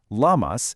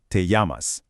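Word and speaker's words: llamas: That double L you see in yamas, it almost always sounds like a Y. So, it's not lamas. It's more like yamas. Let's try that together, shall we? Yamas.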